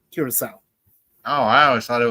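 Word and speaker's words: Curaçao: That's how it's pronounced. Curacao.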